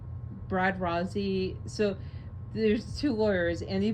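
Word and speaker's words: Rozzi: And R O ZZI is Rozie. I don't I don't care where you live and I don't care how you think it's pronounced. It's Rosie.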